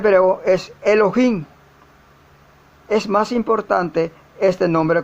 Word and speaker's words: Elohim: la palabra dios que le tienen que se pronuncia comúnmente n pero es elohim es más importante este nombre como lo veremos